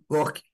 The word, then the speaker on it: Gorky: o O primeiro lá Márcio, é Gorkai ou Gorky? lá em cima, É, Gork. o primeiro, Gorky. Pronto. É, Ele é tá vendo? armênio, tá? Se eu tenho É dificuldade de russo, eu lembrei por pronunciar. causa do Maximo Gorky, o escritor russo.